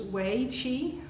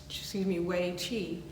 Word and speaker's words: Wei Qi: So what this one is actually called is Wei Qi. It's spelled W-E-I, Q-I, which just means protective energy.